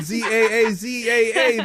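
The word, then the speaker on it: Zsa Zsa: z z Alex said Za a a Za AA that is correct jaha Brook is spelled Zsa space Zsa all the s is silent you really never seen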